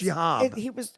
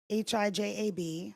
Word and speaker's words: hijab: It's jihad. It's HIJAB. Thank you. Hajib. Hajib. No. That'd be EB. The J is silent.